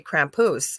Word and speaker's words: Krampus: He kept saying, and I'm going, Krampus? Yeah, that's how you say it. We say Krampus.